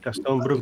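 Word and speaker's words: Gastón Brugman: Gaston Brugman.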